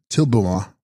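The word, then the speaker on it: Dril bu ma: Text Drilbuma, pronounced Tilbuma, Sanskrit Kinkini Dari, she holding the bell, the Shakti of Amrita Dara.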